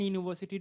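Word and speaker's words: university: एक और बात ध्यान देंगे, एन यूनिवर्सिटी डिग्री यूज नहीं करेंगे आप, और यूनिवर्सिटी डिग्री, क्योंकि इसका जो प्रोनाउंसिएशन है वो हिंदी के वॉवेल य से शुरू है, य से यज्ञ।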